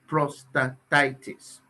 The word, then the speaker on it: prostatitis: called prostate productivity prostatitis prostatitis just pronounce it prostatitis okay i'm just using